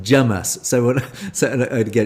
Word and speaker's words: James: It's the Curry House sketch or that came from an English and the the waiter is called James and he is pronounced Jamus.